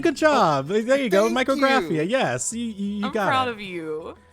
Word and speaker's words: Micrographia: you did a good job there you go micr graphia yes you got I'm proud of you the